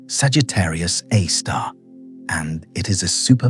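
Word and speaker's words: Sagittarius A*: A source named Sagittarius a star pronounced Sagittarius A star and it is a super massive black hole.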